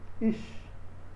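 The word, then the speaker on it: איש: Aqui é um shin com 2 pontinhos embaixo, então não se pronuncia. Então se lê como is. Ish. Se pronuncia ish, porque é um shin.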